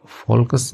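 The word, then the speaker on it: folks: Okay, फोकस नहीं होता इसमें, एल साइलेंट होता है, ठीक है, फॉक्स होता है, ठीक है, एल साइलेंट रहेगा इसमें, फॉक्स यानी कि लोग जो है वो।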